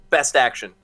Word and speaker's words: BSTAXN: It is a new line of 5-inch scale action figures known as BSTAXN, pronounced Best Action.